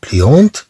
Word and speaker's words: pliante: إذن إن شاز بليونت كما نقول كرسي يطوى. هنا في المؤنث نضيف أه طبعا فتنطق هاد الطي.